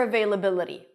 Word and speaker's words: availability: Let's break it down. They, la, B, primary stress, la, D. The T is a flap T in American English. It sounds a little bit like a D.